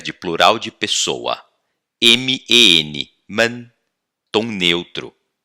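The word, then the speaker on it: 们: M-E-N, man. Tom neutro. Só perdeu o tom, mas continua M-E-N, beleza?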